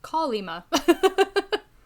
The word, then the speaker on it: Kolyma: Yeah, I mean, it is, but the E is not stressed, so it's... No, yeah. It's hard to do as an American, because American English, we naturally put stress on the second syllable, and that's not what it is.